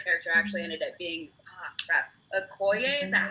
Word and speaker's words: Okoye: Okay, so yes, my favorite character actually ended up being, Okoye, is that how you pronounce her name?